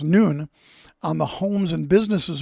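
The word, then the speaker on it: ن: Iraq, they began putting the Arabic letter N, uh which is pronounced noon on the homes and businesses of Christians.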